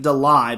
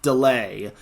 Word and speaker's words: DeLay: Brooklyn de delay I I've been pronouncing it Deli but it's actually delay and Brooklyn delay has